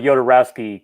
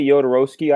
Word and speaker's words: Jodorowsky: With Raiden, we can have a lot of Jodorowsky conversations. A lot of holy Matt brought some. How do you say it? You say Jodorowsky.